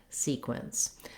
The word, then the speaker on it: sequence: e says the e vowel in this word sequence we want length on our first syllable and our second syllable is short so